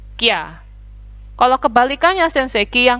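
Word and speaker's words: キャ: Tapi kalau kecil, ya-nya jadinya kya.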